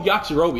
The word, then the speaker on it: Yajirobe: I'm Yajirobe. Oh, Yajirobe. That's how you say it.